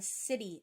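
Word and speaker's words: siddhi: The Gift of the Jinky and then the city of the Jinky and city is spelled s-i-d-d-h-i and that's kind of like the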